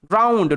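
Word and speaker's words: drowned: sound দিচ্ছে ড্রাউ আর শব্দের শেষে ইডি থাকলে ই এর উচ্চারণ হয় না ডি এর উচ্চারণ হবে ড্রাউন্ড ডুবে গিয়েছিল ধাক্কা খেয়েছে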